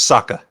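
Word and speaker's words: Sokka: my bad isn't Oka no it's it's just Saka Saka Saka my bad Saka I mean I think I pronounced the O's more but yeah how you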